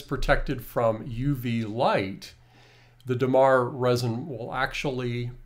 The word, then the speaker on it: Dammar: Dammar resin will actually, or Dammar, as I pronounce it, and Tanya pronounces as Dammar, and I know a lot of people, Dammar or Dammar, and you see the spelling on is Dammar is the two M's.